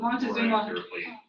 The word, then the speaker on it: Moctezuma: the ruler, which is Moctezuma. Have you guys heard of Moctezuma? Yeah, it's a different, slightly different pronunciation, but Montezuma.